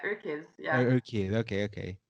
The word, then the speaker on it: UrKiz: You said I believe it was in 2017 is when you created your kids, or how do you say it? You are kids, Yeah, your it's exactly like that. UrKiz, yeah.